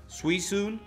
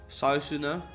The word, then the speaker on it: Suicune: Suicune. Most people said Suicune as well. Suicune. Suicune. Most people said Suicune. Sausune. I heard that once. Sausune. Because U and E is ui.